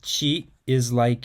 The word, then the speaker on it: ち: The pronunciation of chi is like in cheese, but softer.